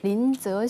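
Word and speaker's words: 林則徐: 아시죠네 그 임칙서 그 중국 발음으로 린즈 쉬라고 하는데요 이분이 중국이 그 서양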